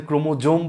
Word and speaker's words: ক্রোমোসোম: তোমরা অনেকেই ভাবছো যে ক্রোমোজোম বলবো নাকি ক্রোমোসোম বলবো, তুমি যে কোনো একটা বলতে পারো, দুটো উচ্চারণই আসলে সঠিক। বানানটা কিন্তু ইংরেজি বানান এরকম, ক্রোমোসোম, এটাকে তুমি ক্রোমোজোমও উচ্চারণ করতে পারো, কোনো সমস্যা নাই।